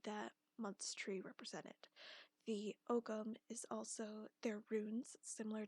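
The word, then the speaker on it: Ogham: the celtic tree calendar is also called the ogum calendar that's spelled o-g-h-a-m there are 13 months which follow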